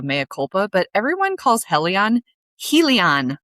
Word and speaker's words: Helion: lot of other people call him Helion, as in Helios, the sun god.